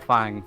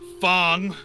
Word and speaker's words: Fong: Fang, or Offensive? I'm not. Maybe that's your middle name. I'm not quite sure. My name is. It's not Fang. It's Fong. It's pronounced Fong.